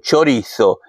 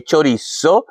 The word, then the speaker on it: chorizo: Ja nyt haluan tämä Espanjan ääntäminen. Chorizo. Ei chorizo, vaikka minä venezuelalaisena sanoisin chorizo, koska me lausutaan se Z niin kuin as. Silti kyllä tämä on niin espanjalainen, se ansaisi sanoa kunnolla chorizo.